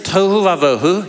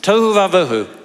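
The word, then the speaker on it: תֹהוּ וָבֹהוּ: Uh the Hebrew phrase is to vauu. Yes, it rhymes.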